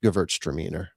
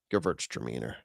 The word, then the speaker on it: Gewürztraminer: sorts of confidence that that horse's name is pronounced Gewürztraminer. That's right. Gewürztraminer.